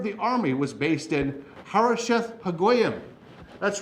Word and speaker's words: Harosheth Hagoyim: Hazor actually is the way you pronounce that. In Hazor, Sisera, the commander of the army, was based in Harosheth Hagoyim.